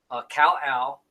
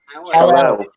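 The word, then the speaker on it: Kal-El: Cal Al. It's like one word. You say it like it's one word.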